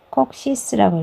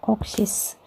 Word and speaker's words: coccyx: 꼬리뼈 같은 경우는 우리가 여기 꼬리뼈를 COCCYX 그래서 콕시스라고 읽어요. 콕시스.